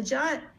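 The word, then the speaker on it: JWT: So JOT, just pronounced as JOT, J-O-T.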